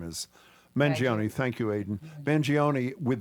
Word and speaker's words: Mangione: many times have we seen, how do you pronounce United Luigi's last Healthcare. name? What's his, whatever his name is? Mangione.